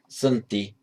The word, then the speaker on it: Santi: And how in Sanskrit, Shanti, Shanti, meaning peace, just becomes, shorten the out there, just becomes Santi in Pali.